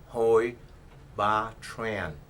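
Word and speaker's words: Hoi Ba Tran: It is pronounced Huy Ba Tran.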